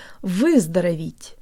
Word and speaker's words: выздороветь: Jaw slightly forward, tip of the tongue behind the bottom teeth, lips rounded and protruded.